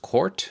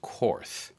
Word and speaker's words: Korth: It is pronounced Korth, it's not pronounced Korth.